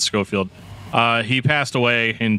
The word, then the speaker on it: Scofield: feel really bad but it's either scofield um or scott field i think it's scofield uh he passed away